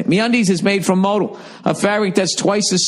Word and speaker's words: modal: daily dose of confidence no modal is pronounced modal I don't understand why every week why they won't show me where the accent is they put in quotes all lowercase mohd al modal that's how I'm gonna say